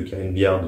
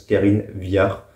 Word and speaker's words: Karine Viard: pas le dé de Karine billard donc je sais que ça se prononce Karine Viard et Pavillard voilà c'était une